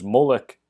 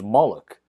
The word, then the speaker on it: Moloch: This word is also translated and pronounced as molek and as moloch, and due to changes